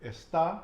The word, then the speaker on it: está: So think about where I'm putting the emphasis on the word. Está, where am I putting the emphasis? On the A, But where, in the beginning or the end? the N, And why am I doing that? What is there above the A? an accent. An acento.